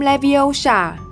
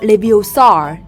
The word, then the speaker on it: Leviosa: One, two, three, action : - Winlgardium leviosa - No! Stop, stop, stop! - You’re going to take someone’s eyes out - Besides, you’re saying it wrong - It’s “Leviosa”, not “Leviosar” - You do it then, if you’re so clever.